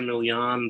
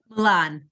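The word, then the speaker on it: Millan: the other one is caesar milian the uh milan milan i said it wrong in the other interview too julian i'm not very good with accented things um so uh the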